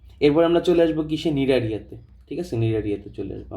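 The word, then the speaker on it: Cnidaria: আচ্ছা, এরপর আমরা চলে আসবো কিসে, নিডারিয়াতে। ঠিক আছে, নিডারিয়াতে চলে আসবো আমরা, নিডারিয়াতে চলে আসবো। নিডারিয়ার ক্ষেত্রে কি হবে জিনিসটা, আমি যদি চিন্তা করি।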